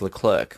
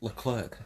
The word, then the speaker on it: Leclerc: grid at Albert Park Oh Charles look Claire she's how he pronounces it right so he actually says that Charles Leclerc when everyone is actually there